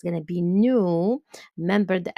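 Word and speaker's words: nous: an S sound here when I when I pronounce it it's going to be new remember the S is silence for new and again the S silence at the end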